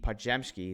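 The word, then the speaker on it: Podziemski: Uh Podmsky. PMsky is that's how you pronounce his name.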